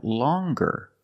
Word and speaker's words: longer: a nasal sound long but then you have longer where we have the hard G sound longer with a nasal sound plus the hard G longer and we have the J